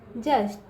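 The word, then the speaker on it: just: ठीक है, अब यहाँ देखिए बच्चों जस्ट क्या है, जस्ट, जैसे ज, बच्चों यू साइलेंट है यहाँ पे, AEIOU वॉवल होता है ना, तो यहाँ पे जो यू होता है बच्चों उसका उच्चार बच्चों अ होता है।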